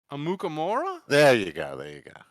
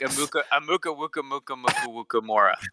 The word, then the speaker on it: Amukamara: Amukamara? There you go. You added like 3 other syllables. Yeah. It was, you went like Amuka Mora.